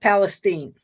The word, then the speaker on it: Palestine: The residents of the town call it East Palestine. Okay. East Palestine with a a different sound to the eye.